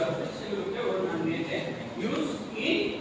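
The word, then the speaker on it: jus: বলেছে juice J ইউএস এমনিতে এটা একটি লেটিন শব্দ লেটিন এটার আসলে মূল উচ্চারণটা হচ্ছে ইউজ কেমন কিন্তু আমরা যেহেতু অক্ষরটা দেখি সেজন্য আমরা জুস জুস ইজ রেড প্রক্রিয়া জুস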